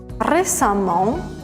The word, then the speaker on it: récemment: Par exemple, récent, récemment, on prononce amant, j'ai vu ce film récemment.